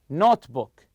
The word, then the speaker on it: notebook: travels so the word here notebook notebook you stress the word note you packed everything except